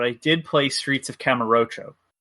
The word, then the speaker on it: Kamurocho: I didn't play Endless Zone, but I did play Streets of Camarocho. Camarocho? I think I pronounced that right. Kamurocho.